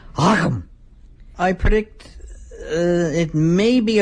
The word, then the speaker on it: Akam: Hang on, I got Jay Sherman coming and he wants me to pronounce that one wrestler's name correctly. Akam!